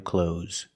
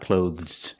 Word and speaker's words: clothes: buy some new clothes just use the zebra sound Z at the end so if you want to sound more natural and sound like a native speaker pronounce this word cloth don't try to make the th sound it's not clothes this is not correct okay Advanced English Learners